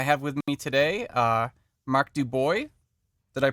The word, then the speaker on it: DuBois: lebryk and I have with me today mark do boy did I pronounce that right mark well done Joseph oh